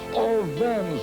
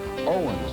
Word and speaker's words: Owens: crowd of 120,000 shouting, "All Vens, all Vens, all Vens." The W in German, you know, it pronounces the V. And they were all shouting in unison, "Owens, Owens."